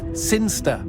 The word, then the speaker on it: Sinchester: It's pronounced Sinster. How do you know? My cousin's from Sinster.